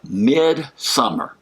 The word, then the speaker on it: Midsommar: There's a movie out called Midsommar, Midsommar. It's the Swedish spelling and pronunciation of midsummer, but Midsommar.